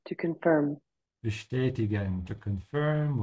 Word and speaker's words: bestätigen: Bestätigen, to confirm. Bestätigen, to confirm, with a sh because of the st.